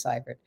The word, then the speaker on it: Seivert: It's spelling is EI, pronunciation is Seivert.